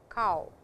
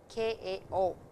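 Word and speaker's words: 顔: we have cow so it is not co w it is ka o please remember that and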